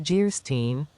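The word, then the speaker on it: Geierstein: offering it for sale Anne of guyin pronounced Jerin or the maiden of the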